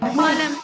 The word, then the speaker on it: column: Column, N is silent।